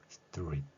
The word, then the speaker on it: street: 스트리트라는 4번의 호흡이 아니라 단 한 번의 호흡으로 끝나는 것이죠.